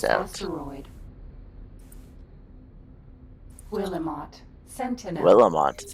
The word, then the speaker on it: Willamette: Willamette is how that's pronounced.